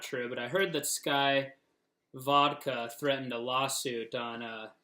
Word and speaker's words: SCCY: so it's spelled SCC why but it is pronounced sky as well so anyways opening the box up